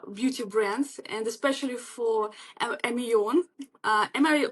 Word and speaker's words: Ameon: in my pronunciation yeah it's am on so it's it actually it comes from French yeah it's am and on yeah so it's like soul on okay so so on